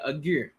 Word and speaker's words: Agur: Agur.